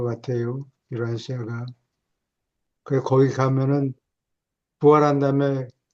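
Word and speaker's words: Urantia: 그 뭐 채지피티나 이런데도 우란티아라고 나오더라고요. 우란시아 아시 우란티아 우란티아 예 그거 영어로는 유란시아가 제일 가까워요.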